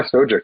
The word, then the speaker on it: Stojic: So they pronounce it Stojic, but I've also heard Stojic, from different people I met. And I just go by Stojic.